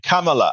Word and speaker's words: Kamala: you need to learn to say her name Kamala I have noticed several times you incorrectly say